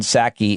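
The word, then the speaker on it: Psaki: jen pasaki jen passaki saki i think the p is silent who was the former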